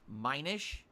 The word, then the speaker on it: Minish: when I was mentioning those did I it's pronounced Minish okay and I'm learning I had no idea